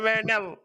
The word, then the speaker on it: Marinello: What up, Marinelle? Marinello. Hey, My bad.